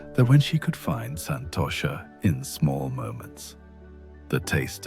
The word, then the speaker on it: Santosha: But perhaps the most significant change was in her relationship with what the ancient texts call Santosha, pronounced Santosha, which means contentment or satisfaction.